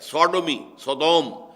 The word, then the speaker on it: Sodom: منسوب کیا گیا ہے، سوڈومی، سودوم وہ شہر تھا، صدوم جس کو ہم کہتے ہیں، سوڈوم SODOM، یہ بائبل میں اس کا تلفظ ہے، تو اس سے یہ